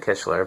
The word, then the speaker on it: Kichler: I'm pronouncing that right kitler kitler could be kler I suppose um Everybody I've always talked to at lighting showrooms and things have said kishler but I still can't